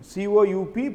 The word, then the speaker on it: coup: So capturing, military capturing, COUP, P is silent, coup.